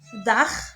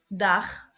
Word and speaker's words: Dach: CH, on le prononce Kha, après le A, le OU, le AU et le A. Par exemple, Dach, le toit, roof.